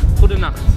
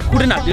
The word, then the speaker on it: Goedenacht: Good night is Goedenacht. Goedenacht. Almost like the German.